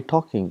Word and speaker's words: talking: For example, in English we got, for example, talking, we say talking, but when you write, we write L, tall king, but we don't pronounce L.